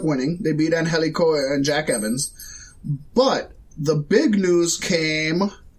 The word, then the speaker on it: Jack Evans: And Jack Evans. You were close there. It's not Jacques.